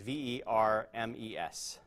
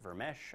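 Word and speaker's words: Vermes: Burmese Gez a Burmese V er mes some people pronounce it ver mesh I don't really know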